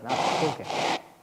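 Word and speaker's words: Nachfolge: 나크폴게. 한번 따라합시다. 나크폴게. 예, 나크. 예, CH 발음이 흐 발음 납니다.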